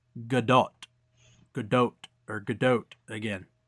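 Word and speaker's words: Gadot: is good doe and you do hit the T at the end but I know I'm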